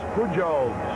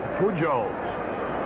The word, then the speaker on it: Pujols: paid the catcher louis pujols who's nothing out of two i always forget to pronounce the j's like h that's why i call